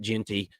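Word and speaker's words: Jeanty: And they hand the ball off to um Genty and and I said Gentry, and I'm sorry about that. I meant Genty.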